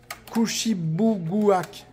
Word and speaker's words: Kouchibouguac: Chouchou, ils te disent comment ça se prononce. Kouchibouguak.